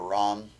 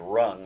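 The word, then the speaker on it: Ram: And if it's, an elemental mantra like the fire mantra Rum actually is how it's pronounced, spelled R-A-M, pronounced rum, or actually more like rung, like a rung on a ladder, R-U-N-G, but it's spelled R-U-M, or R-A-M, sorry.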